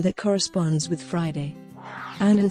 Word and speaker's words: Annan: Annan said that his surname rhymes with "cannon" in English.